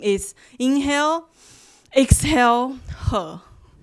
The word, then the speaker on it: He: hear me okay uh actually my name is her it's spelled as h e so I saw some